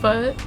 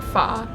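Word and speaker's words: phở: I think it's much much better than pho is how I used to pronounce it. But later I learned I think it's like foh.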